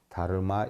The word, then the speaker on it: 달마: 달마는 다르마. 다르마다라고 하는 것은요. 소리 날 땐 우리가 달마라고 읽어요. 달마. 본어는 다르마예요. 다르마. 뭐 달마야중 하니까 어떤 분들은 뭐 달마대사님께 귀합니다라는 뜻인가요?